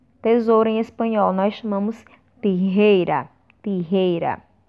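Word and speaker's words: tijeras: Tesoura em espanhol nós chamamos tijeira. Tijeira. Lembrem-se sempre, o E sempre com som fechado.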